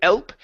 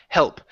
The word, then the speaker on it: help: Okay, pronounce the H on help instead of elp, help.